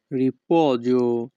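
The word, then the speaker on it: riposo: বাংলা অর্থ অবসর বিশ্রাম রিপজ এখানে পি ও এর উচ্চারণ হবে পহ এস ও এর উচ্চারণ হবে জোহ ইতালিয়ান ভাষা রিপজ বাংলা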